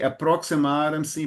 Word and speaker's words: aproximaram: E arremessaram-se sobre o homem, sobre Ló, e aproximaram-se para arrombar a porta. I I have a suggestion. Thank you. In this case, the letter X has a sound of S.